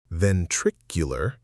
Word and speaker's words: ventricular: Ventricular fibrillation.